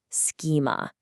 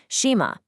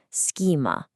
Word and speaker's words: schema: Notice the phonetics here. Transitioning from the S to the hard K sound takes some precise muscular coordination. A lot of professionals fall into the trap of using a soft sha and saying schema. Remember the hard K, schema.